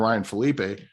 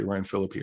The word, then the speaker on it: Ryan Phillippe: And speaking of Ryan Phillippe. Yeah. I've been calling Ryan Phillippe forever, and then I heard someone say Ryan Phillippe.